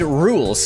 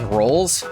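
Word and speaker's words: Rouxls: You read that is rolls. It's rules because there's a character named rules card and his theme song I think is called it's pronounced rules which I can identify with because it's pronounced fish.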